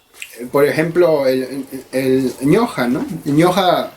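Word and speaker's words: ñuqa: Ñoja se escribe con U, pero cuando está en presencia, en este caso, de otra consonante, se pronuncia como O. En realidad se escribe ñuja, ¿no? Pero se pronuncia ñoja.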